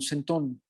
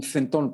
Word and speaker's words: centón: es en realidad un centón, o un centón para pronunciarlo como lo pronuncian los españoles.